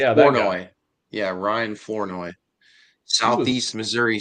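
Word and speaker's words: Flournoy: Florenoi. Yeah. Florenoi.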